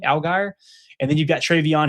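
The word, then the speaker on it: Allgeier: Quinshon Judkins, who was a stellar young player there, limited snaps this year, but Tyler Algier, I think is how you say the name, Algier.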